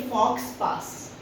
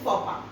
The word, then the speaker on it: faux pas: अगर आप इसे ऐसे पढ़ेंगे तो आप पढ़ेंगे फॉक्स पास. लोमड़ी चली गई. But the exact pronunciation is faux pas, which means an embarrassing mistake.